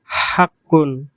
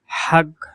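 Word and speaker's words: حق: এরপর হাক্কুন, হাক্কুন। বিশুদ্ধ আরবি ভাষায় হাক্কুন এর আঞ্চলিক উচ্চারণ হলো হাগ, হাগ। এখানে কফের উচ্চারণ গ এর মতো হয়েছে, হাগ, হাগ।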